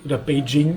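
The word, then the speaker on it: Beijing: Theoretically, an example where it doesn't work out like "Paris" or "Peking" which are actually "Paris" & "Běijīng" . Sometimes one doesn't know any better- for example, "Feng shui" isn't pronounced "Feng shui" but "Fēng Shuǐ" .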